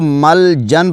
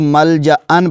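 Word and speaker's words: ملجأً: لو یجدون, اس لفظ کو مل جن پڑھ لیتے ہیں بہت سارے دوست, لیکن اس کو مل جا ان پڑھنا ہے. یہ جو آپ الف کی جو شکل دیکھ رہے ہیں اس کے اوپر دو جو زبر ہیں, اس کو آپ نے مل جا ان پڑھنا ہے, مل جن نہیں پڑھنا.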